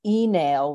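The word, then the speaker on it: Uí Néill: a family called the enale which is how you would pronounce it in Old Irish but they became the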